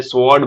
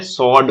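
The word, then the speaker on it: sword: सबको आदत होती है, हमें कभी नहीं सिखाया गया होता कि ये डब्लू साइलेंट होता है, हमें स्वॉर्ड बोलना सिखाया गया है, लेकिन ये क्या होता है, सॉर्ड होता है।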